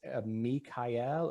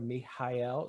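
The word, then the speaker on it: Michael: on um pronouncing it's me kyle or mihail so typically in latin we would not have an h sound but we're borrowing this from greek um and so i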